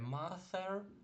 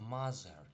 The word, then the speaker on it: mother: Не mother, а mother.